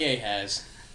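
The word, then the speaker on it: Ehaz: Ahaz is spelled with an E. But it sounds like A has.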